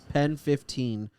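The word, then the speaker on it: PEN15: was like it's like it's called pen 15 but it's like spelled like penis but yeah i mean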